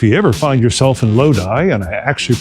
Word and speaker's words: Lodi: And if you ever find yourself in Lodi, and I actually pronounced that right this time, go to Trailers Plus and they will hook you up.